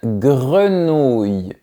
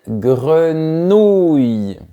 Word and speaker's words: grenouille: Une grenouille. C'est toujours le même son et force bien le son OU. Une grenouille.